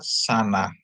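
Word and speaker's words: שָׁנָה: Terus ada sin, dikasih kamats, nun dikasih kamats, dia bacanya shin dikasih kamats sa, nun dikasih kamats na, jadi tambah he, jadi bacanya sana.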